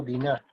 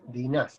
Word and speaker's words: Diná: Esta mujer se llamó Diná, ¿sí? Dina. Ahora, de esos 12 hijos, acuérdense que el hebreo acentúa en la segunda sílaba o al final, ¿sí? Diná, ¿sí?